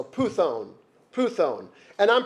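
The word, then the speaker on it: πύθων: The accent's on the first one, so puthon.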